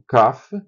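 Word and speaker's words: כ: Então o CAF sem o da Gesch é Raf. Com o da Gesch o pontinho no meio fica caf e o final é sempre raf.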